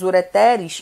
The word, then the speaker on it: ureteres: Como eu tenho 2 ureteres, então a gente não pronuncia ureter, a gente coloca no plural. Ureteres, que é o canal de